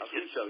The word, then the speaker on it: Affuso: And Rob Affuso, right? I'm pronouncing that right. Right. Affuso, yes.